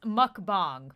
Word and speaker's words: mukbang: happen okay never mind I just looked it up and it says it's pronounced mukbang sorry for those of